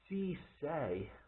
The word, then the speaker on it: See Sa: site it's actually pronounced c say which is s-c-e and then s-a that's actually how they pronounce it in english um and they make